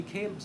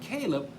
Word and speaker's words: Caleb: But if you pronounce it as Caleb, it means like heart. Like heart. That means like a heart of a man who has discernment.